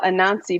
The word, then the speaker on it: Anansi: pretty interesting i'm very curious to hear how a nancy plays am i pronouncing it right yeah you do you do